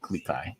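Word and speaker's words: Klee Kai: A Klekai, if I'm pronouncing that right. Klekai.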